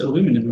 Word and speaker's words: aluminium: That's how the British also pronounce it.